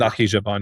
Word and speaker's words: Nakhchivan: So this is effectively like an infrastructure logistical corridor that runs from Azerbaijan to Nakhchivan, if I'm pronouncing that correctly. Nakhchivan, yeah.